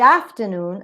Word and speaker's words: afternoon: You say good afternoon, and the stress is in afternoon. Why? Because under the influence of good, there is a stress shift.